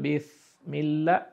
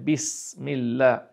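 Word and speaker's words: بسم الله: আপনার যদি উচ্চারণ করেন তাহলে হয়ে যাবে বিসমিল্লাহ ভুল হয়ে গেল। যদি সদ দিয়ে করেন বিসমিল্লাহ ভারী হয়ে গেল। তাহলে সেটাও ভুল হয়ে গেল। আপনাকে উচ্চারণ করতে হবে বিসমিল্লাহ।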